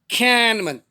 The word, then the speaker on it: Kahneman: slow by daniel kahneman they were spelling k-a-h-n-e-m-a-n but the pronunciation is cannabin and intensified my desire